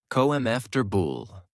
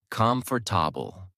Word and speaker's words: comfortable: You can ask chatgpt how do I pronounce the word comfortable correctly. It will break it down like this. Comf bool not com for then you can use texttospech tools or record your voice to compare.